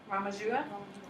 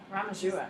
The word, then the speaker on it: Ramanuja: Ramajua. Ramajua?